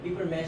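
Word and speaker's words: papier-mâché: paper and you're the only one who pronounced it. Paper mesh is actually paper.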